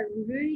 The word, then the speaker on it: ऋ: ऋषि वाला ऋ जो है उसको हम, लेकिन आप ऋ का उच्चारण करके देखिए, आपको ऋ ही बोल पाओगे आप, इसके साथ में दूसरा स्वर सुनाई नहीं दे रहा है।